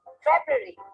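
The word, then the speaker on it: February: फरवरी, फरवरी नहीं, फेब्रुअरी।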